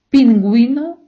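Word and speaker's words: pingüino: цю у не читаємо Якщо ця у іде з двома крапками ми її читаємо давайте ще раз Герра гітара у не читаємо пінгуно гуня у читаємо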